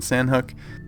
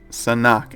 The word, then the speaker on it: Sanhok: giving me a lot of crap for saying San hook a lot of people say San hawk or cynic but it's Sonic SAH and ok is how you pronounce it